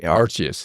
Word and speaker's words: Archius: Archius. It's Latin. Latin.